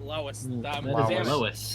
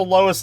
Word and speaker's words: Lois: Le well it's also Lois Lane God damn it wait Did you say Lois Lane he said lisis Lane that is Lewis is a dude's name it is it's so